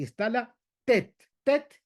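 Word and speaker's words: טית: Tet es con la lengua justamente en la parte del paladar.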